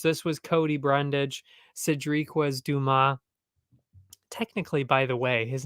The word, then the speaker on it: Dumas: If you actually pronounce it French, which is, I'm assuming, how it's supposed to be pronounced, it's actually Cedric Dumas, not Cedric Dumas, as they keep saying.